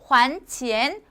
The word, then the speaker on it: 还钱: 근데요, 만약에 还钱이라고 하게 되면요, 한자도 달라지듯이 还钱, 환, 돌려주다.